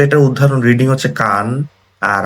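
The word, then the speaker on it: 間: তো এটার উদাহরণ রিডিং হচ্ছে কান আর আইদা হচ্ছে মেইন, আর গেন কেন বা মা দিয়ে হচ্ছে এটা বোঝানো হইতে পারে।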